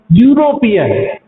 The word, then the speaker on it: European: European, E is a vowel, but the pronunciation of this word is European, therefore we use a.